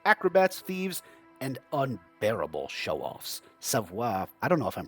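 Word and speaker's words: Savoir Faire: The French Canadians that I watched that played this pronounced it savair. Savair savair.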